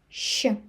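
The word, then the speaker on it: щ: And next one, letter she she This one you can't find in English, but it's combined pronunciation of the sound she but soft and che she she she And one more letter,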